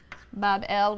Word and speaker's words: Babel: him a magnificent Shrine or Temple in Babylon pronounced Babel which simply means Gateway of the god the